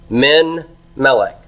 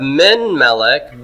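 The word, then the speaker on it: מִן מֶלֶךְ: Min melek. Min melek. It's a closed syllable. It would be a silent shiva, right?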